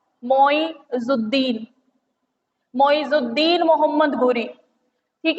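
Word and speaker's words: Ghuri: हैं, मोइजुद्दीन मोहम्मद घुरी, घुरी घुरी, गौरी तो हम बोल देते हैं बट होता वो घुरी है, हम गलत प्रोनाउंसिएशन करते हैं, मोहम्मद घुरी।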